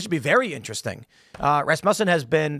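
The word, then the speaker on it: Rasmussen: Uh, Rasm Musen has been Is that how you pronounce it right? Res muffin. Yeah, it rhymes with uh Asmus. Ah, okay. I always had Ras Mucen.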